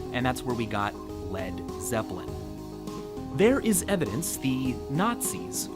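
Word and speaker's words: Led Zeppelin: his band's new name he removed the a so it wouldn't be pronounced lead and that's where we got lead Zeppelin there is evidence the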